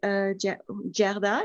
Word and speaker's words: Gerda: So so today we're here and we're going to present you, Gerda is the way we pronounce it in French, Gerda in English.